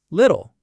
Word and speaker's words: little: The first L in little comes before the vowel I, so it's a light L, li. The tongue tip goes up. The second L comes at the end, after a vowel sound. It's actually a syllabic L, which is a type of dark L. So it's dark, ol. So you have a light L and the dark L in the same word. Lil, little.